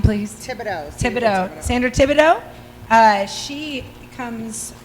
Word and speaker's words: Thibodeaux: how do you say your last name please thibodeaux sandra thibodeaux uh she comes from let me